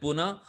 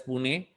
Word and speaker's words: Pune: yeah great question and the first time i said puna i was strictly warned that you know unless you pronounce it right as pune you know so uh